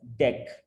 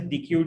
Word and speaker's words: deque: the end name dq is short for double ended queue and is usually pronounced as deck okay so we generally call it as dq dq dq but the